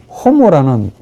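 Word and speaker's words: homo: 옥격은 삼격하고 동일하고 혹격도 주격하고 동일한데 자, 이런 형용사가 호모라는 인간이라는 아주 많이 나오는 인간이라는 이 명사와 결합하면 어찌 될까? 호모 여러분 아시겠죠? 이 호모가 인간이라는 말입니다. H가 묵음이 아니고 H 앞에 놓으면 호모가 이제 발음해줘야 돼요.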